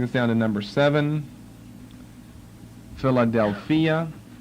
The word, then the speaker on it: Philadelphia: down to number seven Philadelphia which we pronounce Philadelphia but Philadelphia different accent Philadelphia p-h-i-l-a -d-e-l-p-h-i-a Philadelphia